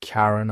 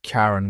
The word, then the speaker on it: Charon: The first syllable of Charon, pronounced differently in astronomical usage than in classical mythology, honored both the ancient fairyman and the astronomers beloved spouse. The discovery of Karen was momentous for several reasons.